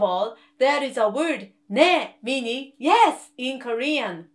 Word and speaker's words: 네: Can you see I put my tongue around here? 네, 네, 네. And then this tongue position is exactly the same when Korean people pronounce 네, 네, 네, 네. See, I did not change the tongue position between 네 and 네.